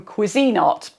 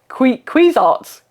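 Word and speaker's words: Cuisinart: My final air fryer is from Cuisine Art, or as the Americans say, quezarts.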